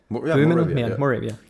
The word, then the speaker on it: Moravia: Moravia how do you say Yeah in English Moravia yes I think yes so people came from